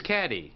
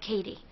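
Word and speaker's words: Cady: Michigan her name is caddy caddy Herron where are you Katie that's me it's pronounced like Katie my apologies I have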